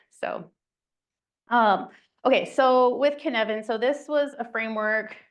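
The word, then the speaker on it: Cynefin: So, has anyone heard of the Canvan framework?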